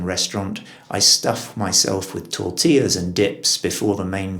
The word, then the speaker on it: tortilla: about is tortilla where we have adopted the spanish pronunciation tortilla you'd have thought if we had guerrilla we'd have tortilla but it's not the case we have tortilla and that refers to